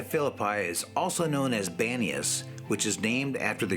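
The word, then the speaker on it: Banias: where pan was worshiped however the arabic language has a hard time pronouncing the p sound and they called it banius and it's stuck to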